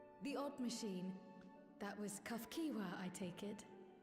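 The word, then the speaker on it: Cahciua: The odd machine that was cuff kiwa, I take it. Kafkiwa.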